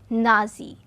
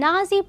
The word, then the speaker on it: Nazi: workers party later this became known as nazi the being the first part of the german way of pronouncing the word national he established a paramilitary